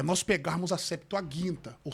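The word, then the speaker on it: Septuaginta: Uma coisa, linguisticamente falando, é nós pegarmos a septoaginta ou septoaginta, como ele pronunciou. Eu falo guinta porque o G é duro.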